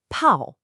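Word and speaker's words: 炮: When we add the fire radical to bao, we get the character pao, pronounced pao.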